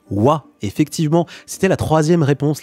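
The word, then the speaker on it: は: gagnent à aa mais qui se prononce ouah effectivement c'était la troisième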